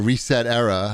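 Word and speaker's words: ResetEra: forum of neogaf etc or reset era i guess is how you say it was bought by a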